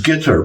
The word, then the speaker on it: Qatar: in just normal conversation they pronounce it like uh guitar the instrument that you play a guitar but with the accent on the first syllable so it's it's gter but it's not really it's not really a t it's like more like a guar some well what the